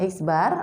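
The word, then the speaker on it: x̄: tunggal itu cara mencarinya adalah x bar ini bacanya eksbar atau rata-rata ya =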